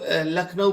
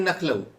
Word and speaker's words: लखनऊ: जैसे बहुत सारे स्टूडेंट्स हैं, वो जब लखनऊ बोलते हैं तो वो कहते हैं नखलऊ, उन्हें लगता है वो एकदम सही बोल रहे हैं। सुनने वाला भी समझ जाता है प्रोनाउंसिएशन के आधार पर लखनऊ कह रहे हैं, पर वो गलत होता है, नखलऊ नहीं होता है।